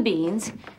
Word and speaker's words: beans: En la palabra beans, tenemos la terminación con sonido z, z. Beans.